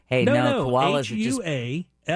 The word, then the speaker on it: Hualapai: Hualapai. I think it's pronounced Hualapai or Wallapai. I see. That sounds like that HUA. you go ahead and say, LA.